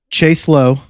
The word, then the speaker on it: Chase Lowe: a millennial in atlanta whose name rhymes with mace below what that specific category